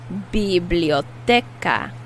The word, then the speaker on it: biblioteca: a library in spanish now in this word the c is pronounced like a k biblioteca library is biblioteca now